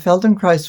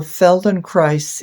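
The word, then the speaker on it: Feldenkrais: promote neuroplasticity of the brain exactly exactly and Feldon Christ would be much more subtle but it is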